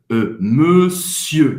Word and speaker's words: monsieur: Esse E faz a boca do O e fala monsieur. Você não vai pronunciar o R no final.